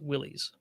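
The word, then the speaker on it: Willys: I will say that the camp of it is absolutely pronounced Willis is a lot stronger than the camp that it is pronounced Willies right so or maybe they're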